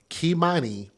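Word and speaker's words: Keimani: Now, the tragic killing of a little girl by the name of Kimani, make sure we pronounce her name correctly and spell it correctly, K-E-I, M-A-N-I, Kimani Latigue, L-A-T-I-G-U-E.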